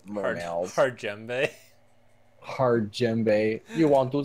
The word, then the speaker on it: djembe: like oh no what djembe it's a djembe or murabba it's djembe it's a djembe see it's a freaking djembe it starts with the D but you don't pronounce the D I knew that okay